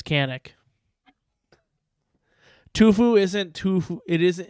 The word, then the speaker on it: Canik: mold yes sonic shanick it's pronounced shonic it's turkish it's goddammit it's canic because in america it doesn't matter how you pronounce it in your country um it's sushi not sashi it is what it is so we're in america it's canik tufu isn't too it